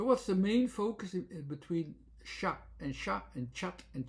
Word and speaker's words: chat: So what's the main focus between sha and sha and chat and chat as it is written ch h a t when it is pronounced as sha you already hear it the ah is dominating.